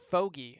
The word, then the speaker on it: Foggy: Foggy, apparently. Rhymes with Foggy. bogey.